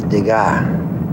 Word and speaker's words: Degas: That's Degas. The S is silent.